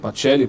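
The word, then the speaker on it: Pacelli: pachelli de Oliveira Eugênio pelli com c patelli pronuncia italiano né de Oliveira que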